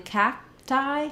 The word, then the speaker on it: cacti: sound fact cat attacked but in cacti cacti we have kind of an unreleased K there cacti and then my T is going to be somewhat unaspirated so it sounds a little bit like a d I don't want to do all the way cacti not a strong B